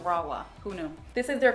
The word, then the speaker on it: Rahua: I used to pronounce it Rahua, because of the H, but it's actually pronounced Rawa.